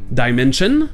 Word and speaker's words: dimension: Mais si avant ce SI vous avez une consonne, comme on l'a vu tout à l'heure avec shore, ça se prononcera ch, comme par exemple dans une dimension, dimension, ou encore la passion, passion.